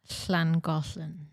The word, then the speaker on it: Llangollen: Langolan? Emily, you can have a go. You're good at Welsh pronunciations. I would say Llangollen.